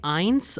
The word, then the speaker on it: eins: Number 1 is it like eins or eins? So here we have the diphthong EI ending in I. So its pronunciation will be I. Eins.